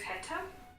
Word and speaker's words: hätte: And the first word was Heta? Yeah. Heta. It's like had.